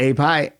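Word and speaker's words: AEPi: honorary member of the a e pie i don't know if i'm pronouncing that you got it a pie yeah it's for for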